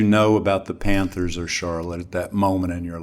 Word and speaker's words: Charlotte: But the city is called Charlotte, spelled the same as Charlotte, right? I didn't know that. But it's pronounced Charlotte, and they had a